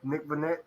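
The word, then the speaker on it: Nick Vannett: I might be saying his name wrong. Nick Vanette.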